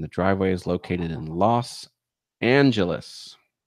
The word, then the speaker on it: Los Angeles: driveway is located in Los Angeles or Los angle ease as people like to mispronounce it on purpose for fun okay um playlists do